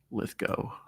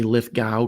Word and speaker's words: Lithgow: to uh lith go as I understand it it's supposed to be pronounced I always say Lithgow because that's how I said it my whole life but apparently it's like rainbow lith go that's what he says um John Lithgow actor